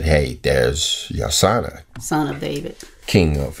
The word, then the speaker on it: Yosanna: They would have put those two together, that Yosanna is the pronunciation of those three letters, Yod, Shin, and Nu.